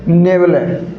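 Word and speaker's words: nebulae: दिखाई देता है तो उसे क्या बोलते हैं नेबल इसका प्रोनंसिएशन क्या होगा साथियों नेबल ने यल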